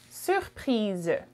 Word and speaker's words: surprise: For feminine, you would add an E at the end, and it would be je suis surprise. Je suis surprise. Z sound at the end.